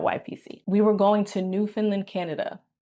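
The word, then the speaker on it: Newfoundland: We were going to New Finland, Canada. I haven't even heard of New Finland, Canada. It's spelled like new found Land and I was like, what are we going to do there?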